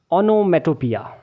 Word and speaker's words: onomatopoeia: सबसे पहले हम इन तीन लेटर्स को लेंगे। यह है ओनो। फिर उसके बाद हम इन चार लेटर्स को लेंगे। ये है मेटो। अब यहां पर आपने ओ को साइलेंट करना है। देन आपको इसको रीड करना है पिया यानी कि ओनोमेटोपिया।